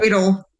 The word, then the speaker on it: Adel: Adel. Technically, it's Adel. So Adel. Yep. Oh, okay. Okay. Or technically, I guess in German, it's Adel. Is how that's actually pronounced.